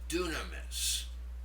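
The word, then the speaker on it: δύναμις: The second one should be pronounced dunamis.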